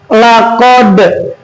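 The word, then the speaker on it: لقد: Nah, ada hurufnya dal. Laqod memantul. Laqod. Laqod. Baca bareng-bareng. Laqod. Laqad. Nah, agak dipantulin.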